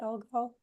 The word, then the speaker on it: Algol: He had a really good video about Algol. Am I saying it right? Algol.